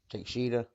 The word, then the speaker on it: Takeshita: Takeshita.